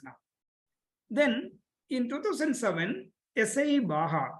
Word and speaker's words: Baja: Then in 2007, SAE Baja, it is pronounced as Baja, but it is written as Baja, BAJA, and Formula SAE came.